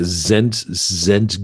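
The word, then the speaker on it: Szent: Yeah, Zent Georgi, because you did some investigations to find out what is prana.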